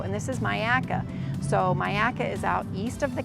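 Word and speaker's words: Myakka: area section also and this is Maya so Myaka is out east of the county it's in uh uh Manatee and in Sarasota County but it's pronounced Myaka and there's a state park uh and there's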